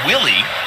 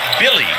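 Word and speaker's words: Willy: over from the Knicks it looks like it will be Willie but it's actually pronounced Billy Hernan Gomez number 41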